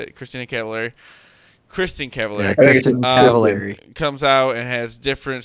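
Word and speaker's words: Kristin Cavallari: And then Christina Cavallari? Is that how you say it? Christina Cavallari? Kristen Cavallari.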